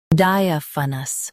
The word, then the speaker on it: diaphanous: Diaphanous. Both US and UK have the same pronunciation of this word. Stress di. Keep a and f soft, then finish with nus.